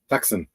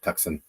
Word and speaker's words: Tucson: find it funny either tuxen he find funny come on as Canadians we call it tuxen don't you don't you say it like like you spell it does it that way no you don't and apparently